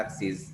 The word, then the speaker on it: axis: Axis dia bacanya axis. Jadi baca is. Axis bukan akses ya, axis.